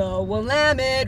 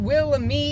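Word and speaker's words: Willamette: the East is what the wamit river not pronounced Willam it know these things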